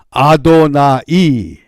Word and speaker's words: 아도나이: 그러다가 후에 이 하나님의 이름이 여호와 야훼라는 단어가 소개가 되면 아도나이, 나의 주다, 이렇게 발음해서 알렸습니다.